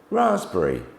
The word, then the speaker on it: raspberry: to know them um P can also be randomly silent uh in some letters for example cou raspberry okay onto letter s